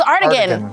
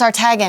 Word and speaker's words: Artagan: Artagan's how you pronounce it? I know. I thought it was Artigan. Yeah. But no, I heard Matt saying it's Artagan.